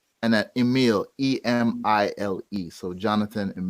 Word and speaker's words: Emile: to make sure people can search it and pronounce it yeah so it's Jonathan Jo and a th a N and that Emil EMI le so Jonathan and yeah what